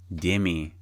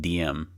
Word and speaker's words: Demi: Demi, Demi, I keep pronouncing her name wrong. I accidentally misspelled her name as like, or not misspelled, but mispronounced it as like DM.